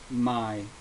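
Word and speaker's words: Maj: uh you know my my last name is my said like my y but it's spelled m AJ nothing new about that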